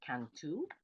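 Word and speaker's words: Cantú: famous is General estan canu in Baja California um Accent on the U uh also he was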